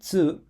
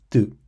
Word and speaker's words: つ: And yes, these two are pronounced chi and tsu, not ti and tu.